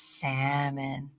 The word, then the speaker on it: salmon: it's god uh the the l is silent he's like but why is there an ellen it should be salman right and he loves salmon i'm like no it's salmon he's got a good